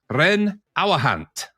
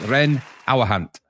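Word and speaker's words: Reyn Ouwehand: thank you thank you is that how you say it yes Ren aant yes cool all right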